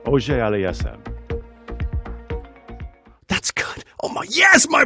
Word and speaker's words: Auger-Aliassime: All right, so French Canadian name, how would you pronounce? Felix, I have to work on the French part, but let's see. Auger Aliassime. Auger Aliassime.